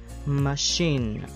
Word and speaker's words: machine: Thì ví dụ như là chef, chef, machine, machine.